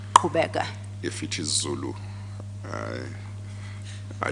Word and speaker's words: Qhubeka: If that is Zulu, it would be pronounced as Qhubeka. Qhubeka.